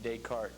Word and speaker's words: Descartes: the outlines it's spelled Des carts but it's pronounced Descartes he was a French dude and he was